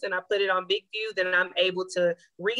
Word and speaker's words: BIGVU: I also use BigView. I believe it's spelled BIGVU.